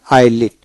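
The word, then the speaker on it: islet: তারপর হলো আইলিট এখানে এস হবে না আইলিট।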